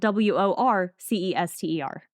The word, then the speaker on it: Worcester: lie sister see you would think but Worcester is spelled w-o-r-c-e-s-t-e-r but it's pronounced Worcester that's why I pronounce